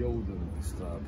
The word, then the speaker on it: Jodenstraat: And I always found this fascinating because you have a street name that's called the Jodenstraat. That's how it would be pronounced in Flemish.